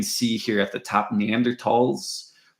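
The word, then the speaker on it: Neanderthal: here at the top neander tals the th is often pronounced without a th it's pronounced with a hard T neander TS often it's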